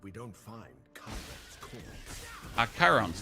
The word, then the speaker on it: Chiron: Chiron's, that's how you pronounce him.